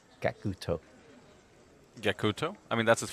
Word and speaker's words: Gackt: demonstrating how the his how to pronounce his name is kakuto-san kakuto yakuto I mean that's